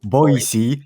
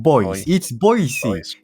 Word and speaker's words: Boise: which one's better, or how to pronounce Boise, which is Boise, not boys.